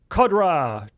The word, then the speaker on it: Kodra: Kodra, 22. Kodra? Sure. For 29 months. Rhyming with Cobra.